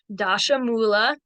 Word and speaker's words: dashamula: to have your herbs dashamula that one is one of the Sanskrit words that at least is pretty easy to pronounced the way it's spelled dasham mola translates to 10 sticks